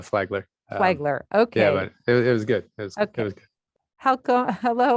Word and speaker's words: Flagler: and his undergraduate from flaidler college in florida sean if you'll correct that name of that college i'm not sure i pronounced it uh it was it was close enough uh flagler okay it was good